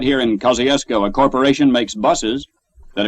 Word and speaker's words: Kosciusko: He spelled it one way, we another, and it's pronounced a third way. Kosciusko, Mississippi.